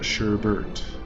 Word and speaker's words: sherbet: the ice cream that I think is spelled sherbet it's uh yeah s h e RB e t we call it Sherbert um someone a teacher